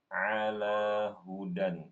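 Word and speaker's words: هدى: he ibu mohon maaf itu bacanya Hudan bukan bukan ala bukan Alaa ulangi dari ulika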